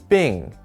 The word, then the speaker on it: 并: This is pronounced 并, and it means side by side.